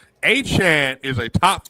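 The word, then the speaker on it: Achane: Wait a minute, I'm calling you for help when I don't want Devon Chain, James Cook. First off, this is the thing. If you're gonna criticize, at least say his name correctly. Achan is a top 5 running back in this sport in fantasy.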